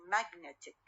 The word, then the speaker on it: magnetic: يصير magnetic. net هي الوسط ويصير المشدد stress one. magnetic.